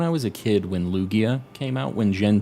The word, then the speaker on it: Lugia: still isn't but uh I called it luigia because I thought like Lugia sounded gross like a loogie like kind